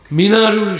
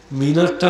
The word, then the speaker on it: মানার: বাহ, মৌলানা তাহের সাহেব বলেছেন মিনারটা মিনার নয়, মানার, অশুদ্ধ মিনার বললে মানারুল ইসলাম। মসজিদে যেটা দেখেন ওটা মানার, নট মিনার। মানার থেকে অপভ্রংশ হয়ে এসে মিনার উচ্চারণ হয়, শব্দটা কিন্তু মানার।